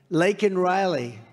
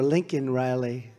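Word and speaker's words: Laken Riley: many innocent victims of the Biden migrant crime, Lake and Riley. And you know, Biden was unable to pronounce her name, called her Lincoln Riley.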